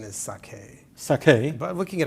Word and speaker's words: sake: you'll tell me if I'm pronouncing it properly it's spelled s a ke I think it's pronounced saki well that's how most people pronounce it the real pronunciation is sake sake but we can get away is that